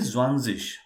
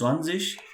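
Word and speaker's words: zwanzig: so it is very very simple it is simply zwanzish zhang yes right so well you will think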